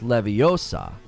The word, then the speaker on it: Leviosa: uh the combo it's never pronounced with an O always with an a with an a in the books for sure huh I